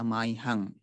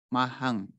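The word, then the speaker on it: mahyaṃ: Terkhusus adalah ini, kata maihang. Maihang itu bukan dibaca mahang atau mayang, bukan.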